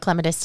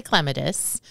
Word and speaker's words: clematis: lot of questions I yeah second to hydrangeas clematis take the cake well and there we go we start right off the bat with uh pronunciation yes but they're both correct so I do tend to say clematis and uh uh I but I also I